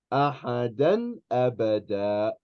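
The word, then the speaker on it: أَحَدًا أَبَدًا: So, if you have ahadan and then a hamza, you're going to do idhar, meaning you're going to pronounce the noon. Ahadan abada.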